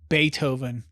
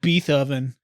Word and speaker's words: Beethoven: would name your dog Beethoven No but then mispronounce it like be oven oh God what do